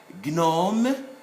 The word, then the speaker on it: gnome: diagnostic, not diagnostic, diagnostic, gnome, and then agnostic, and then gnu. So these must be pronounced.